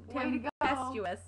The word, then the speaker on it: Tempestuous: I forgot the M this time. I said Tempen. Tempestuous. She always says I say it wrong.